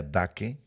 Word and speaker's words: Dake: la Biblia de pero vamos a pronunciar dake en español La Biblia daake dice aquí que es